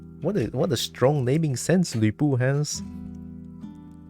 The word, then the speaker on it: 吕布: What a strong naming sense Lu Bu has.